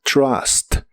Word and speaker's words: trust: La u se pronuncia como una a normal de español y como la t fuerte de inglés la empiezas con la punta de tu lengua más arriba de los dientes, suena fuerte como trust.